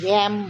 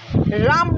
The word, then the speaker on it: RAM: আচ্ছা, এইটাকে কিন্তু এইটাকে র্যাম বলে, ঠিক আছে? র্যামের ফুল ফর্ম কি? র্যান্ডম access memory. রাম নয় কিন্তু র্যাম উচ্চারণ, অবশ্য রামও করতে পারিস, বানানটা তো একই হলো।